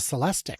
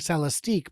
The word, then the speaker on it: Celestiq: Oh no, it's the Celestic. Celestic. Okay. I've been saying Celestique, but I've now been told it's actually Celestic, which means this one, their Blazer, is the Optic.